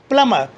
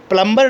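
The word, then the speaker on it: plumber: Lamb, डम, थम, टूम, क्रम, लिम, सकम, वूम, कॉम, क्लाइम, प्लमर। प्लम्बर नहीं होता है, याद रखिएगा। बी साइलेंट रहेगा यहाँ पर।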